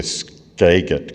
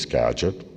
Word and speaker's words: Skagit: referred to as the Skagit Casino. I would explain to him the correct pronunciation was Skagit, part of Skagit County, in the Skagit Valley, along the Skagit River, but he wasn't convinced.